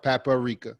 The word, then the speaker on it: paprika: salt pepper garlic onion paprika or as we say Down South paparika right you got a extra syllable those are the main